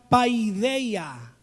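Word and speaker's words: παιδεία: pronuncia musar y de una palabra griega que se pronuncia paidea paidea en ambos casos disciplina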